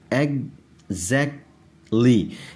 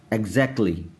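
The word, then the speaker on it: exactly: एग्जैक्टली, एग्जैक्टली, ये जो टी है दरमियान में इसको एग्जैक्टली, इस टी को नहीं पढ़ेंगे आप, ये बस समझे कि साइलेंट है यहाँ पर। एग्जैक्टली, एग्जैक्टली, सही है।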